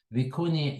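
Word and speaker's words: vicuña: similarly viun for example viun is spelled with an NA a that's a Spanish word so it's n with a little hat and that's also a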